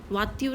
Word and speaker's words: voiture: Then TURE, tur. It is like in English we have char, nature, furniture. Like in French we pronounce it as tur. Voiture is car.